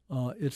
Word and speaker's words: ऐ: So I, 12th letter, pronounced like the I in sky.